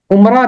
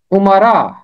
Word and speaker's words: امرا: امرا، اس کا تلفظ عمرہ نہیں ہے، اس کا تلفظ ہے امرا، امرا۔ اور یہ 13 دفعہ